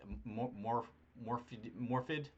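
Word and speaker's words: Morfydd: It's just awesome, and I can't pronounce her name. It's Morphid, Mo.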